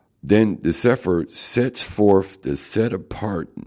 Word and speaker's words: Cepher: This introduction, this collection of writings in the Cepher, pronounced Cepher, is a restoration of